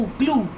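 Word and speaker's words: glue: इन the first word it ई is there, G-L-U-E, ऊ, ग्लू, जिससे हम चिपकाते हैं.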